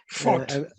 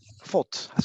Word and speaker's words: Voth: I don't know how to pronounce it. Voth. Voth.